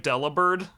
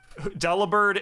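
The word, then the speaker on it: Delibird: at a Santa penguin it's spelled Deli bird but it's supposed to be a pun on delivered uh oh hell yeah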